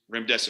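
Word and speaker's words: Remdesivir: Tell them to pronounce it. Run, Death is near. So run, death is near. Remmesa.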